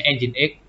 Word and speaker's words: Nginx: Anda bilang yang tulisannya ngik gitu ya. Bacanya Nginx.